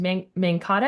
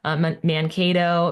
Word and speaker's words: Mankato: And so I was like, I think you picked Mankata. Is it Mankato. Yep. Mankato? Oh man, I butchered that.